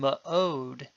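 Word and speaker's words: מְאֹד: In the words kali and ma'od in this vocabulary list, the schwa is vocal.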